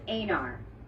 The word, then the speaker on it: Einar: Is it Einar? Einar? It's Einar. Einar Einarsson.